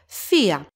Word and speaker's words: θεία: First, we have θεία. Epsilon iota and alpha, they are not pronounced together. Epsilon iota is stressed, so it gets an accent. Two syllables.